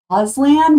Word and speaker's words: Auslan: is australian sign language which i believe is pronounced auslan which i think is awesome because it sounds like as land from like the wardrobe i think it's